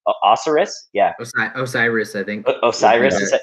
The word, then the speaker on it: Osiris: Osiris is how you say it.